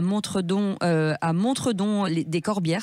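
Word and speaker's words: Montredon-des-Corbières: Vous êtes à Narbonne et à Montredon, des Corbières, c'est ça exactement ? C'est ça, ça se prononce Montredon des Corbières.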